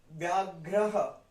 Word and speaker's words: व्याघ्रः: उसके बाद व्याघ्रः, व्या, आधा व है, य है, उसके बाद हम क्या बोलेंगे? आधा व और य को साथ प्रोनाउंस कर देंगे, व्य, और य के साथ क्या लगा है? आ, तो व्या, व्याघ्रः, व्याघ्रः, व्याघ्र, घ्र, पहले घ आया फिर र आया, घ्र, ह।